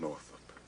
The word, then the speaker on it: Northup: and the Solomon Northup, and it's spelled out, and it's Northup. That's Northup. It's kind of changed in some of the presentations that it's Northup, but it's actually North and then the word up.